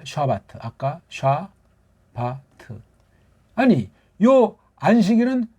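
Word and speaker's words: שבת: 심심 심심 이제 뭡니까 이게 1분 발음으로 좌 받으라고 해요 샤바트 알아두세요 근데 여기 또 없으면 조금만 걔네들 바르는 음소가 자음 모음이 불안정해서 그렇게 말을 하는 거 보니까 우리 집으로 고추장 된장 식으로 샤바트 이게 더 정확한 소리예요 샤바트 근데 걔는 트라고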